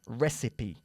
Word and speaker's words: recipe: Se escribe recipe, pero se pronuncia recipe.